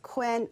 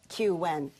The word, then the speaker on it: Qwen: The company tells me the model, it's spelled QWEN, but it's pronounced Quen or Qen.